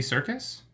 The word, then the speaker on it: Serkis: Andy Serkis? Yeah. His name starts with an S. Circus? Andy Serkis? Circus is spelled with a C.